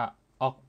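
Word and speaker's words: 억: เฉพาะ ของ มัน ครับ อ่าน ว่า ออก ออก นะ ครับ ก็ คือ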